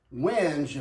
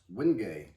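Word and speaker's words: wenge: I would have pronounced it Winge if I hadn't learned from somebody else that it's pronounced Wingay.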